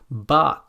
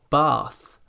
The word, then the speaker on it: bath: The most common mispronunciation here is to pronounce this sound as a d or a t, like ting or ding for thing, bat or bad for bath, or dif or tif for thief.